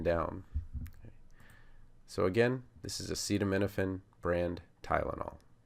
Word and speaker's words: acetaminophen: So for acetaminophen I would go fenophen minofen tinophen cetaminophen acetaminophen acetaminophen.